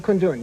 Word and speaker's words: Kundun: And by the way, am I pronouncing it correctly? Kundun, yes.